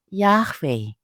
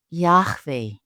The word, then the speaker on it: Yahweh: For now, pronounce YHWH as Yahweh, with a silent H guttural sound in the middle and a W with a V sound, Yahweh. It's incredible how personal God is in giving us His name, Yahweh.